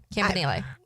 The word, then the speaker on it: Campanile: And he said his name that way. So, Campanile. That's what we're going with.